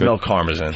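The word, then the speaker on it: Mel Karmazin: And then The Moderator mispronounces Mills last name Listen It's Mill Carmisen Yes Good one I will now call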